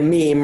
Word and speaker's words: meme: I love that you called it mem, so I don't feel offended that you mispronounced my name. Because now I said mem. It's really a meme, right?